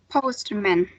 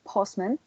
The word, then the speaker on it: postman: every single uh sound post men right yes but do you know how it is actually pronounced or when you use solution postman right so the sound disappears so it will post